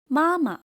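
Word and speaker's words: 妈妈: For example, māma The second ma does not keep its original tone, ma, but become neutral tone, soft and unstressed.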